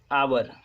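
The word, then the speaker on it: hour: गया ना ये, तो इसको एच को साइलेंट रखते हैं, एच को पढ़ते नहीं है, एच का उच्चारण नहीं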